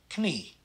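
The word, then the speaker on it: knie: but the kn blend we pronounce both the k and the n so this is knee knee the l m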